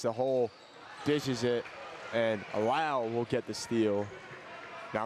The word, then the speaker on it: Lau: Now, I'm learning that it may be Briggs Lau, not Low. Yeah, the halftime senior night, they pronounced it Lau.